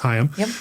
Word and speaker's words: Haim: correctly uh so and I'm told by Lauren that it is hayam uh and you want